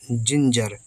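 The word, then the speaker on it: ginger: के बाद आई है तो जी से ज बनेगा ग नहीं आई से छुटी की मात्रा एन से बिंदी और जीई है तो फिर जा आर सेरा जिंजर जिंजर पढ़ते हैं इसको अदरक जिंजर माने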